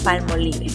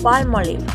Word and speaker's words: Palmolive: No sigas pronunciando Palmolive, la palabra correcta es Palmolive.